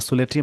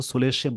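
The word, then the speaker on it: solatium: सोलेटियम नहीं, इसको सोलेशियम बोलते हैं, प्रोनाउंसिएशन आप चेक कर लीजिएगा।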